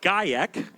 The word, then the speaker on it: Gajek: So, it's Gajek. Adrian Gajek, yep. Sorry, the J is silent.